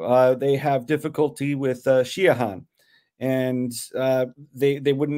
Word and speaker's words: Siodhachan: English speakers too uh they have difficulty with shahan and uh they they wouldn't know how to pronounce that uh it's because um the Irish